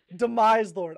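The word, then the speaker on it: Demiselord: Is that how you pronounce? Demise Lord. I've been saying it wrong for the past two streams, but now I know for the next one.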